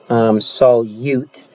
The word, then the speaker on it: solute: you remembering this is when I see the word solute I think that that kind of writes that rhymes with parachute okay and so I